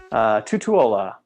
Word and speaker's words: Tutuola: right I believe she's trying to say it's Tutuola or two Tutuola let's say yep Tutuola well so let's read this question right question